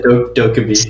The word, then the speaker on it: Dokkaebi: Like the Dokkaebi? Is that how you pronounce her name? Yeah, Dokkaebi.